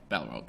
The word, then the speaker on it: Balrog: Balrog.